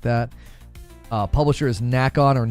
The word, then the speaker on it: Nacon: Uh, publisher is Nackon or Nikon. N A C O N. I I'm I'm assuming you pronounce that like Nikon.